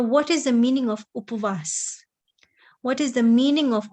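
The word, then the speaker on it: ઉપવાસ: Upvas, and even people will not say upvas, people will say apvas. Even the way how it is pronounced, we don't pronounce it in the correct way. It is upavas.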